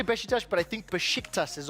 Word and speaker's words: Beşiktaş: How do you pronounce the S that has a tail on it? It's Beşiktaş. Yeah, it's a tail. It's a Turkish Beşiktaş.